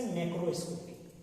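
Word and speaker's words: macroscopic: माइक्रोस्कोपिक से मैक्रोस्कोपिक, समझिए, MACRO को मैक्रो पढ़ दिए और MICRO को माइक्रो पढ़ दिए।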